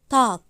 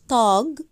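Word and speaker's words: Tag: معايا كده هتلاقيني بقولها تاك طا مش طاج انا بنطقها كانها كاف خفيفه مش ج جوتن طب يومك كمان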